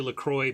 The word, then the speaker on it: Lacroix: mana yeah there are some people who want to pronounce Lacroix Lacroix because that's a predict correct French pronunciation however Lacroix is taken from La Crosse Wisconsin and the st. Croix River so it is literally Lacroix because it's named after a darn river that's pronounced not French like alright well we